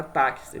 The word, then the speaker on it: táxi: Porque quando pronunciamos a palavra táxi, a gente ouve o som de quê? Do T, do A, olha só, do C, S e do I. Táxi, concorda? Ou seja, esse X aqui é substituído na pronúncia por CS.